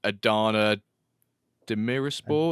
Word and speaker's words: Demirspor: league Adana Demirspor. Is that how you pronounce it? Yep, Demirspor.